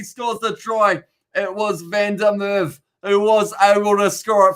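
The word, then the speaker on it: Van der Merwe: to hastings voice the white ball out to vanderwaal oh i said his name wrong but he scores the troy it was van der merv who was able to score it for scotland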